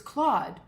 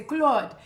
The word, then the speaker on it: Claude: It wasn't Clyde, it was Claude. But no one could ever pronounce it. And the way Claude said it, he would always say Claude.